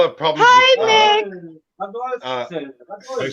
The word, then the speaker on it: Radolfzell: Radioisville?